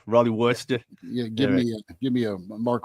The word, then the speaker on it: Worcester: By the way, do we not pronounce the first R kind of like Worcestershire sauce or whatever? Like, is it Worcester? No, I think it's Worcester. I think it's a Boston guy. Yeah, it's Worcester.